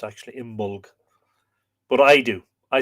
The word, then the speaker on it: Imbolc: Do you pronounce the B in Imbolc? I do, but I suspect it shouldn't be pronounced actually Imbolc.